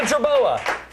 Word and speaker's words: jerboa: I'm against the jerboa. Is that how you pronounce it?